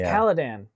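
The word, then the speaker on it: Caladan: after the first one it's kaladan it's because it's like khadan oh yeah you're right but it's spelled with the c yeah exactly so kaladan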